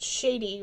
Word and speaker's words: shady: They just I had to explain to them that shady rhymes with Brady and that it's basically